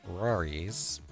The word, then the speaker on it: RawriZ: us how you came up with the name Rory's uh for your channel and I'm assuming I'm